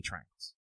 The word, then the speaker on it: triangle: It's too many triangles.